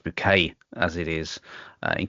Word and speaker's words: Bucket: bucket or it's pronounced bouquet as it is uh in keeping up appearances